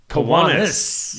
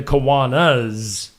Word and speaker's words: Kiwanis: It's the Kiwanis. Kiwanis. Yes. Oh. Well, so we were both wrong. I always want to say the Kiwanas. Well, It looks like Kiwanis. I don't believe it's Kiwanis, but Right.